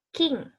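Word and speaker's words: 金: Nah, emas itu king. King, K-I-N. King. Nah, kalau hari Jumat itu menjadi kinyobi. Kinyobi. Kinyobi. Gitu. Tulisannya bukan K-I-N-G tapi K-I-N. Kin. Bacanya king.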